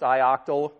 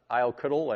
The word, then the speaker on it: ioctl: Okay, and sometimes it's pronounced ioctal. Some people pronounce it iocutal. I've never quite liked that pronunciation.